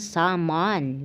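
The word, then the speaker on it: salmon: ang tamang paglilinis ng salon ganon daw ang pagpronounce without L so Ayan guys makita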